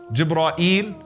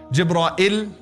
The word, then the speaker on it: Jibra'il: What are some of the ways to pronounce his name? Jibreel, Jibra'il, Jibra'il, Jibra'il, Jibreel. Those are five ways that have been narrated through the various qira'at.